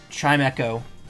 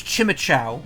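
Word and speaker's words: Chimecho: Chime Echo. Because it's the E gets used twice. Because it makes the I a long I sound, and it gets used in Echo. So I thought it was always Chimichow, or Chimicho. My dumbass didn't realize it's supposed to be Echo.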